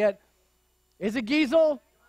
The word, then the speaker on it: Geisel: Couldn't find any way to phonetically say it. Is it Giesel? Geisel, thank you.